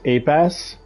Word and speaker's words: APS: So, there's this thing called the this APS enhancement, and the way that they pronounce it is Apass, and it sounds like they're saying ape ass every time they say it.